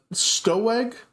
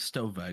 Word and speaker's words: Stowe: Uh, anyway, uh, Stowe. Oh, hi. My name's Stove. Sorry, I know it's a W, but it's pronounced like a V.